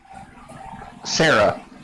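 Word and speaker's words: Cera: Sarah.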